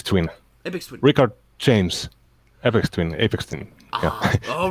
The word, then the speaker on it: Aphex Twin: Aphex Twin.